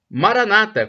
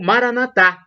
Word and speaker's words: Maranatha: plano também Jesus Cristo Maranata como dizem os protestantes com a tônica na penúltima sílaba ou Maranatha com a tônica na última sílaba como dizem os católicos o significado é o